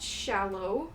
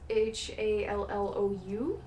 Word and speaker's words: Shallou: Another one is, I believe it's pronounced Shallow, but it's Shallou.